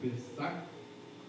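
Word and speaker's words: פסח: Eu não sei a pronúncia correta, mas se não me engano é Pesach, com CH no final.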